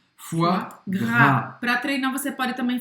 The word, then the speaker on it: foie gras: Você vai falar simplesmente o som do F e depois wa. Foie. E depois, gras, a dificuldade é justamente aqui o R. Foie gras. E não pronunciar o S no final.